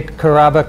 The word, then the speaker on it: Karaba: the longnecker lab caraba welcome thanks vince good to be on the show did i say carraba correctly there are many ways you could pronounce that but we pronounce it very good thanks for